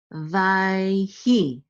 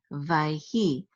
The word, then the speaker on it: ויהי: This is Vayhi, Vayhi. This Shava is silent because it's in the middle of the word.